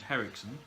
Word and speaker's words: Henriksen: Lance the Legend Henriksen. That's how you pronounce his surname.